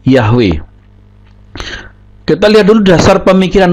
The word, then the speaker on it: Yahweh: Yod he wau he Ini dibaca dengan yahwe nah ini yang kita mau selidiki bersama Apakah dasar berpikir mereka itu benar bahwa Yod he wau ini bisa dibaca dengan pengucapan yahwe kita lihat dulu dasar